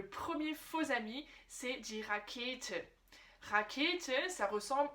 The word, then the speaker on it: Rakete: Et d'ailleurs, tu as bien remarqué la prononciation Rakete. Rakete.